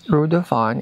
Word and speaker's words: Reudufon: If you guys also want to stay here, you can check at this place, Rudon. It's spelled R U E D U F O N.